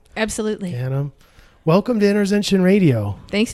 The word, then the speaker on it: Sally Ghanim: Huddled away in the little village here is Therapods, and I'm sitting here with the owner, Sally Ghanim. Did I pronounce that right? Absolutely. Ghanim.